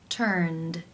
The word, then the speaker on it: turned: The final sound in the infinitive is the n consonant sound, n, which is voiced. Therefore, it is case 2, where the ed is pronounced as the d sound. Turned, turned.